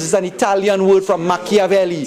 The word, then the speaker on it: Machiavelli: But machinations is an Italian word from Machiavelli. C-H-I is pronounced chi in Italian, Machiavelli.